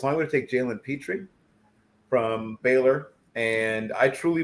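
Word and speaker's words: Pitre: It's pronounced Petrie, but it's spelled P-I-T-R-E.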